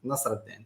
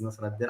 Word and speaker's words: Nasreddine: My name is, the correct pronunciation is Nasreddine. So my name is Nasreddine.